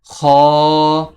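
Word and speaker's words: خ: হা এরপরের হরফ হচ্ছে খ হরফটি কন্ঠনালী শেষ হইতে উচ্চারিত হয়। এই খরফটি উচ্চারণের সময় মুখের এরকম অবস্থা হয়। খ এরপরের হরফ হচ্ছে দাল।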